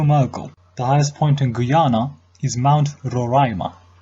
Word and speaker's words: Guyana: the highest point in Guiana his mount Roraima the nation's name can also be pronounced as Guyana the highest point on